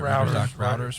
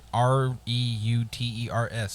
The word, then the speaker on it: Reuters: So apparently it says routers. Everybody knows routers, right? Routers, whatever. Routers? You called it a router? Writers. Well, I mean, REUTERS.